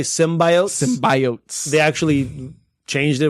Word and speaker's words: symbiotes: It's symbiotes.